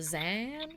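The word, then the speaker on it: Xan: um are from a plane called zan correct yes then am i saying that correctly yes you can you can spell it x-a-n or x-a-n-z i just wanted to make sure it was zan and that i'm not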